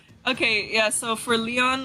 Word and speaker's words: Lyon: I I thought for some reason that Sorry, it's pronounced Leon or Lyon? I'm just going to go with Leon. it's Leon. Bro, he's been saying Leon all day. It's Leon, yeah.